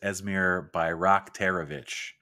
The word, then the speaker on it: Esmir Bayraktarević: It's Esmir Bayraktarević. I know that because I just looked at the pronunciation guide on their website.